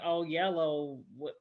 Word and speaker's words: Oyelowo: In Selma, it was David Oyelowo.